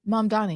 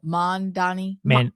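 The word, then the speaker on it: Mamdani: No, y'all, I just now figured out how to say it right. Don't start saying it wrong. Mom Donnie. Because I haven't said it right since the beginning.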